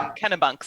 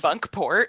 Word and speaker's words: Kennebunkport: Oh, and see, I've been saying their name wrong. Is it really Kennebunks? I don't know. I assumed that a place in Maine called Kennebunks? Kennebunkport. Oh, that's awesome.